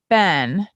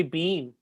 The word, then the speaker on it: been: do you say b-e-e-n bin bin i've been yeah i do i do say it like the name ben cause i thought that was correct bin some people say bean yeah they're english people